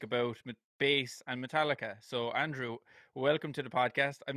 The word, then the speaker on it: Andriy: youtube on speak about bass and metallica so andrew welcome to the podcast i'm not sure how do i pronounce your surname i can pronounce your first